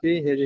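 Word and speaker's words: فيه: ফাহি নয়, হার নিচে ফায়াজের যে, ফি, শোনেন, ফায়াজের ফি আপনি উচ্চারণ করলেন, তাহলে ফা এলো করা থাকে, ফিটা আসবে। ফায়াজের ফি, হাজের হি, ফি হি, ফি হি, ফাহি হবে না।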